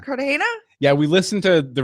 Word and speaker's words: Cartagena: Cartagena. Cartagena?